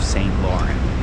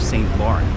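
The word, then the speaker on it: Saint Laurent: I've heard Americans say I'm St. Lauren. I have St. Laurent. Because that would be the pronunciation in English. But don't say it like that. Let's keep it original.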